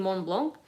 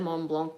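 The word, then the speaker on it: Mont Blanc: one are you saying you mean mon blanc because i said mom blanc before and someone's like don't pronounce the c so but blessed barack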